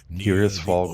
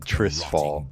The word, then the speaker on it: Tirisfal: Tirisfal Glades. I had said it wrong for like 20 years. I always said Trisfal.